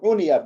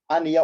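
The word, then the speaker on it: عُنِيَ: Uniye meşhur okunuyor arkadaşlar. Aniye olmaz, uniye, hani kendilerini ilgilenmişler.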